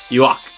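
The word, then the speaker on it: Yhwach: There's Yuahabaha, which is how it's written. There's Yua, and there's Yuak, which is more closer to the accurate German pronunciation, which is what it's based on.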